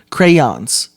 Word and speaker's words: crayons: you say you see do you see how like much effort you put into saying crayons it's correct so now now for